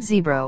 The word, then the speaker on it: zebra: The word zebra was traditionally pronounced with a long initial vowel, but over the course